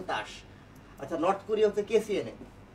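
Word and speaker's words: TASS: আমার ঠিক জানা নাই কারণ রাশিয়ান ভাষায় লেখা তো উচ্চারণটা হচ্ছে তাস আচ্ছা নর্থ কোরিয়া হচ্ছে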